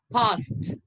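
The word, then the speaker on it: passed: Okay, so ed is pronounced as t, t. Okay, past, past, past.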